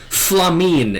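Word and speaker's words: F'lhaminn: Okay, Fulhamin? Fulhamin. Flamine is how they pronounce it in-game.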